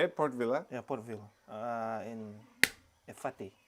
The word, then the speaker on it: Port Vila: Yeah, That's how they say it, Port Vila.